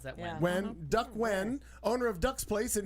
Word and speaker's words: Nguyen: Yen. Nguyen? Oh, when you pronounce that Yeah. when? When Duck Wen, owner of Duck's Place in New Haven, Learn that the hard Somebody way.